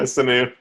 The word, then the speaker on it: Sanu: Yeah, Sanu.